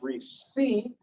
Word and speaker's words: receipt: looks good because that's receipt right three c we don't pronounce the p some people do and